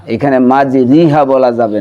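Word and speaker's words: مَجْرٰىهَا: বিসমিল্লাহি মাজরেহা অমুরসাহা ইন্না রব্বিলা গফুরুর রাহিম।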